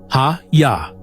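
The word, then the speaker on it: היה: Specifically, it is the Hebrew verb haya, pronounced hayya, which means to be, to exist, to become, to happen.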